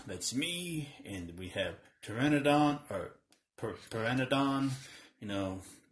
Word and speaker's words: Pteranodon: me and we have Pteranodon or printed on you know a lot of people we know they don't know that the P is silent useless facts I know